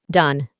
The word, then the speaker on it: done: En el pasado participio tenemos done. Para la pronunciación reemplazamos la O con A y no pronunciamos la E del final. Done.